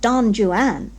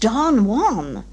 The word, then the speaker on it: Don Juan: to embarrass you but it is not don joanne it is pronounced don juan well she didn't say